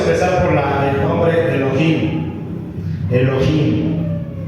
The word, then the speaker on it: Elohim: Elohim. Así se pronunciaba, o así lo pronunciaban los antiguos.